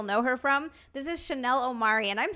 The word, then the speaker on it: Chanel Omari: that's where you'll know her from this is Chanel Omari and I'm saying your name right right I